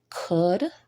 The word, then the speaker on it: could: So again, these words are walk with the L being silent, could with the L being silent as well, and buy with the U being silent.